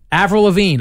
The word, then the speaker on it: Avril Lavigne: I'm going to get her name wrong. Avril? Yep. Avril Lavigne.